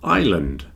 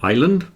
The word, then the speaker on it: island: is a type of Island I don't think there's any real difference between is and Island but the key is don't pronounce the S Isle island island it's